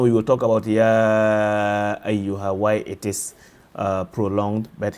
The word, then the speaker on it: أَيُّهَا: So if you want to be precise, make sure that you differentiate and become clear when you pronounce the ya with emphasis as well as the ha that comes in there. Ayyuha, قُلْ يَا أَيُّهَا الْكَافِرُونَ.